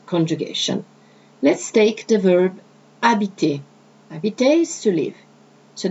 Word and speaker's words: habite: J'habite, where you can put the apostrophe between the je as personal pronoun and habite, okay, starting with an H, which in French is considered silent as a vowel, is not pronounced, okay?